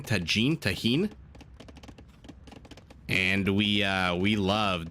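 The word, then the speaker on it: Tajín: spice that we have I don't know if the J is pronounced like an H or just like a j it's t-a-j-i-n Tajin tahin do we uh we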